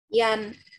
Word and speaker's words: Jan: Ingat nggak gimana bacanya J kalau dalam bahasa Jerman? Jan, Ya, Jod. good. Jan. Jod, richtig. Jan kom mit dem Fahrrad.